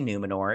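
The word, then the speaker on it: Númenor: from the new moon they all say it like and then I'm like I'm like just say numenor it's fine and everything uh but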